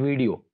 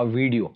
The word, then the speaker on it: video: Elongate कर देते हैं, हम इसको ऐसे प्रोनाउंस करते हैं वीडियो, आई सो अ वीडियो, नॉट वीडियो, it's actually वीडियो, इट्स a good वीडियो, यानी वी के बाद जो साउंड है वो शॉर्ट है, वीडियो। So that was all about today's lecture.